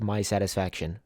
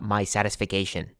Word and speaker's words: My Satisfaction: royal or my satisfication it's literally pronounced my satisfaction not my satisfication what am I doing